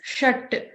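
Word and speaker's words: षट्: So there is a ta, we have learned in the ta varga, halant at the bottom. So that line indicates that you're not going to pronounce the full letter like ta, you're going to pronounce t, shat.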